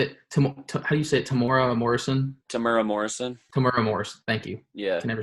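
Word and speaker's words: Temuera Morrison: Tamura Morrison.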